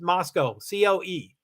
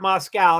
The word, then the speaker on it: Moscow: I mean, I think Moscow is pronounced Moscow, C-O-E, Moscow, C-O-E, not Moscow, not like Russia.